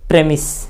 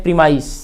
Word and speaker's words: premise: एक अगला वर्ड है प्रेमिस, जिसे बच्चे उच्चारण करते हैं प्रीमाइस, जिसको सिद्धांत कहते हैं हम, प्रेमिस। प्रेमिस।